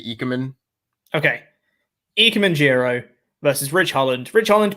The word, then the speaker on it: Ikemen Jiro: Is it Ikemen Jiro or Ikemen Jiro? I've been told Ikemen.